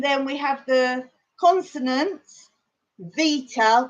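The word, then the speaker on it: βήτα: And then we have the consonants, Vita, which old school English in maths, we used to call it beta, but it's pronounced V.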